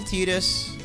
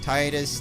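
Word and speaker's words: Tidus: pretty a vine equivalent how people pronounce his name Titus Titus I still don't know which one is right it's tight right like cloud squall tide like detergent or whatever laughing so laughing his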